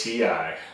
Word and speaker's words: Ti: We're going to be talking about the correct way to pronounce the letters TI.